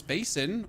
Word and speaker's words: basin: It's not bassin it's basin. Are you sure it's basin? I mean, bassin makes sense for me and I'm saying it because I'm German and the German pronunciation would totally make sense.